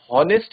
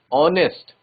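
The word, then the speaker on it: honest: लेकिन स्पेलिंग और प्रोनाउंसिएशन में एच क्या हो जाता है? साइलेंट हो जाता है। और हम बोलते हैं हम हॉनेस्ट नहीं बोलते। हॉनेस्ट नहीं बोलते। क्या बोलते हैं? ऑनेस्ट। एच को साइलेंट कर देते हैं।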